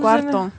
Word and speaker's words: cuarto: How do you spell it? Gualdo. Guardo? What? No. Gual. Cuarto.